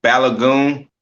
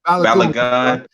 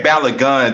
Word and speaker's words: Balogun: rocking bullet gun but i'm saying it right uh it's actually um balagun balagun oh you can say balagun just to be exact to be exact ballot